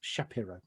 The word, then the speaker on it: Shapiro: developed by a lady called Francis Shapiro that's Shapiro pronounce it properly and what she noticed is that